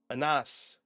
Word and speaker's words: Ines: E is pronounced like an A. Ines or Anas.